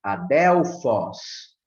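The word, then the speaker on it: ἀδελφός: E a palavra adelphos, adelphos, tem o som mais forte no ômicron, certo?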